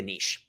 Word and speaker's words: niche: But we got to pick a niche. I know you Americans say niche, but I say niche.